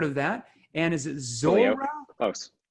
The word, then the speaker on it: Zuora: And is it Zuora? Close. Twilio and Zuora. Like I said, my mom says we're from Arkansas. We don't know how to pronounce names.